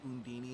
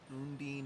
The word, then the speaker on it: Undine: And yes, just to reiterate, they call her Undini in this game. She's called Undine in every other game.